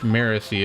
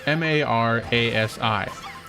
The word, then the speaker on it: Marasi: name is I guess her name is actually pronounced Marisi. It's spelled M A R A S I.